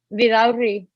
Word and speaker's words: Vidauri: Vidauri. Vidalri. Yes, sir. That's close? Yeah, pretty close. Okay, You just need good. to roll your R's a little bit.